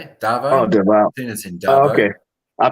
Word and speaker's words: Davao: And even I haven't been to Davao.